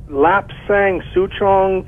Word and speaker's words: Lapsang Souchong: Yes, I was wondering about Lapsang Souchong tea. I think I'm pronouncing it correctly. You have pronounced it perfectly.